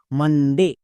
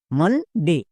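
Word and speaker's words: Monday: বলে দেওয়া আছে তাই কি হলো একার এবার উচ্চারণ করো পুরোটা মানডে মানডে এরকম করে যদি উচ্চারণ করো টিপস মনে রেখে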